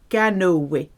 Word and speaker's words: canoë: Have you seen the two dots, the accent above the E? Those two dots mean pronounce me. Faire du canoë. Faire du kayak.